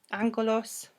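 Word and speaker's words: ἄγγελος: Because angel, angelos, in Greek means, I say it like it's Mexican. Angelos.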